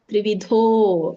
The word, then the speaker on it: ತ್ರಿವಿಧೋ: ಕೂಡಿ ಹೇಳಿ ಆಹಾರಸ್ತಪಿ ಸರ್ವಸ್ಯ ತ್ರಿವಿಧೋ ದೊಡ್ಡದ ಇದೆ ದೀರ್ಘ ಇದೆ ತ್ರಿವಿಧೋ ಭವತಿ ಪ್ರಿಯಹ ಪ್ರಿಯಹ ಅಲ್ಲ